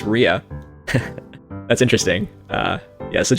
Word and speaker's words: ria: i didn't know this these actually have the identical pronunciations if you look at the ipa so they're both pronounced rhea that's interesting uh yes